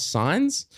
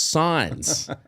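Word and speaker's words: Sainz: Carlos signs but they instead of s a i NZ it's spelled Carlos signs SI i g NS cuz he signed a contract but his last name's signs but then if you write it differently it's sounds the same but it means different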